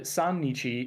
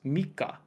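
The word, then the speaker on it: 三日: it's futa and then the third isn't uh sanich it's Mika and then once you get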